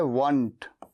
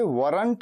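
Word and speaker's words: weren't: वर नॉट का contraction होता है वंट। इसे वरंट नहीं कहते, आर नहीं कहते, आर साइलेंट होता है।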